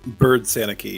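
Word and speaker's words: Byrd-Sanicki: Bird Sanicki is how you say Megan's there you go, last Bird name.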